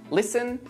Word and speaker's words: listen: Now, let's take a look at a few words with a silent T. Butcher, castle, listen, mortgage, soften, which.